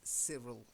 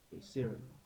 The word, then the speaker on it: Cyril: So just the first one is the name Cyril. I know it's a Y, but we don't say Cyril. It's Cyril. If you meet somebody and that's how they spell their name, it's Cyril, okay? Cyril.